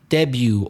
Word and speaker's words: debut: What about debut or debut? Silent T, because there's a T at the end.